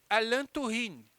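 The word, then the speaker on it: Alain Touraine: movimentos sociais vamos lá então se pronuncia Antoine mas se escreve Alain tourine Beleza então escreve aí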